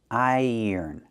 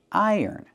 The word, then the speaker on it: iron: To link the two vowels, I and er, we have a yuh sound in the middle, like in yellow and yesterday. So, you hear I yuh yearn. Iron. Put the stress on the first syllable.